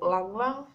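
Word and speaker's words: ylang-ylang: So good oils for like this anger and hurt are patchouli and also langlang. It is spelled with Y, so it's like langlang with Y.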